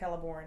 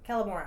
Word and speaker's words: Celeborn: Celeborn's like, or Celeborn. Why am I calling him Celeborn? Anyway. Celeborn, yeah. Huh? Celeborn.